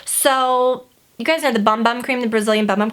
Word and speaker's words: Bum Bum: So, you guys know the Bum Bum cream, the Brazilian Bum Bum cream. Someone said it's called Boom Boom cream, like B-O-O-M. It's spelled B-U-M, like bomb.